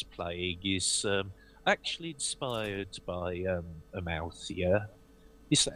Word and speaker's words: Amalthea: For anyone who is interested, that druid I was playing is actually inspired by Amalthea. Is that how you're pronouncing it, dear? I don't... Yeah, Amalthea, that's how you pronounce it.